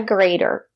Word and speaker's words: grater: vegetables great job a grater this is a grater the letter T is between vowels we pronounce it as the fast the greater this is